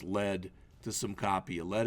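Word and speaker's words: lede: Add some, I think this is actually pronounced lead, to some copy.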